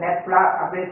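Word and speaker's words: nabla: இதுல வந்து பேக்வர்டுக்கு நெப்லா இந்த மாதிரி போட்ட நெப்லா, அதுக்குரிய ஸ்பெல்லிங் வந்து இந்த இடத்துல எழுதியிருக்கிறேன், நெப்லா அப்படின்னு சொல்லி இந்த ப்ரொனவுன்ஸ் பண்ணணும்.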